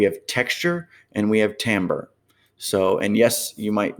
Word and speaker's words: timbre: that correctly so uh timbre would be spelled t i m b r e but pronounced timbre okay i know it's it's strange